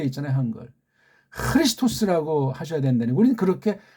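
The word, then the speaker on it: Χριστός: 크리스토스라고 하셔야 된다니. 우리는 그렇게 발음도 가능하고 유일하게 표기가 가능하잖아요.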